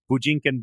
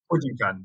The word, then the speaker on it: Bujinkan: And then I remember looking at clubs in Dublin, and there was the Bujinkan Brian Dojo, and I think you mean the Bujinkan Carol Dojo.